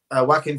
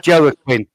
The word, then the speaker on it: Joaquin: Sorry, I always thought it was Joaquin. Joaquin. That's how you spell it. Joaquin. Joaquin. J is like a Y.